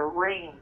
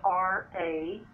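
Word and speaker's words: Raine: urge your listeners to please look at the RAIN study. It's spelled R-A-I-N-E.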